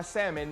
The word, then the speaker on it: salmon: i was eating my salmon that salmon without the l the l is silent i'm looking at that